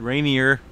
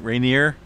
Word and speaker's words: Rainier: uh pronounce mount rainier for longest time i've said rainier but i'm pretty certain that it's uh rainier a lot of people